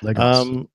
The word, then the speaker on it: Lagos: That's how you pronounce it, by the way. Lagos.